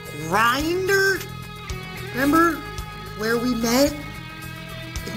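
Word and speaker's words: Grindr: that app pronounced right it's with a G it's grinder remember where we met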